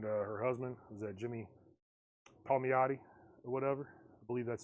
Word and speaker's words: Palmiotti: So if you want Amanda Connor and Jimmy Palmiotti, that's how you say it.